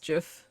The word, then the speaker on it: GIF: It's pronounced GIF for the record. Like GIF with a G.